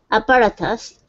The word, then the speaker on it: apparatus: Yeah, so switch that T to a flap T.